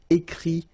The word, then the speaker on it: écrit: Okay, remember, you put this T, you don't pronounce it. Écrit, dit.